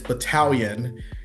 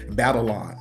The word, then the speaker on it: battalion: And I just remember looking at I thought it it's battalion on when you pronounce it, but I looked at it in the teleprompter and I said battleon.